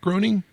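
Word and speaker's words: Groening: course Matt groaning and am I pronouncing that right Matt groing I think he once said it rhymes with complaining so complaining yeah groing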